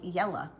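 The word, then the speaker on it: Jela: And her name was Yella, and it was spelled with a J.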